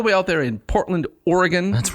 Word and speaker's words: Oregon: Right, and then when I met people from Oregon in college, yes, they said they would not stand for it. It's Oregon. Oregon. I would say Oregon.